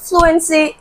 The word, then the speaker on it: fluency: to this question because fluency is stressed at the beginning of the word the first um syllable is stressed in the word fluency so option D is